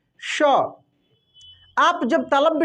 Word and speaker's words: श: दोस्तों मृदा बोलते हैं तो देखिए जो ये तलव्य श सिंपल है दोस्तों जो तलव्य श है इसका उच्चारण तालु होगा देखिए तलब श श आप जब तलब श